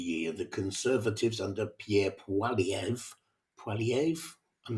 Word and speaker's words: Poilievre: I keep getting his name wrong, Poilievre. And while a lot of Canadians felt that Poilievre he wasn't a very effective leader, nonetheless, they